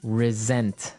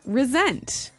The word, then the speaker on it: resent: said I resent that resent resent okay now this is spelled exactly like re-sent like with an S right that's right r-e-s-e-n-t but